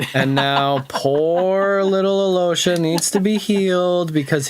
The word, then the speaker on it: Alyosha: saying uh the pronunciation, the proper pronunciation of Aloha is also, but I say Alosha because that's how we've been told to say it.